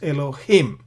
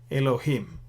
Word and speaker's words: אֱלֹהִים: Now, if you notice here, Eloah, so what we're doing here is we're putting a chirik yod mem, it becomes Elohim. Elohim.